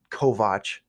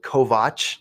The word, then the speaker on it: Kovach: And you can find me through social media at Kovach Jr. That's it. JonKovach, And yes, it's spelled Kovach, not Kovich or Kovac.